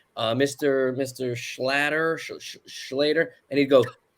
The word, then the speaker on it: Schlatter: I always say it's like it rhymes with otter, so it kind of sounds like a Jewish otter. Schlatter.